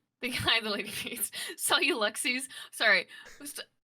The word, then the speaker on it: Celluxies: Um, Like Celluxies is correct, right? it's supposed to be like galaxies, so it's just like Celluxies, but nobody ever pronounces